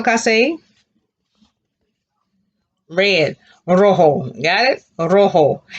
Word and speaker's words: rojo: red rojo got it rojo because the j sounds like letter h class a rojo and